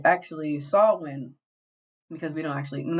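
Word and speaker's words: Samhain: Hallows Eve was actually a Celtic tradition called Sam hay and we pronounce it Sam Han because we are not educated it's actually saw when because we don't actually none of us speak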